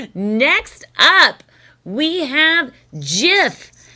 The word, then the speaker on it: GIF: Next up, we have GIF.